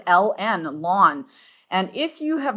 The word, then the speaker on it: ln: It is the natural log and often we pronounce it lawn. Okay. Okay. Okay, so we pronounce it lawn and it is the